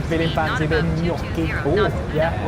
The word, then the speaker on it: gnocchi: If you're feeling fancy, a bit of gnocchi. Oh, yeah, it's got G in it. It's like gnome. Gnocchi. Yeah. That's like it's in the silent G family, which is exclusively operated by gnomes.